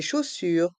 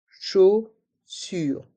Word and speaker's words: chaussure: Chaussures, chausson. Et dans chausson, les lettres O et N ont le son on. Chausson. Dans chaque mot, la lettre S est muette.